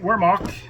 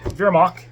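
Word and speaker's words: Wehrmacht: And then I'll show you my Wormach Vermach as it's correctly pronounced.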